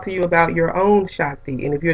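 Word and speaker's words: shakti: about was your uh inner Rhythm or your shaki and shaki is is a force that permeates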